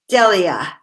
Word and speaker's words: Delia: I like the, how do we pronounce it, Delia? Delia.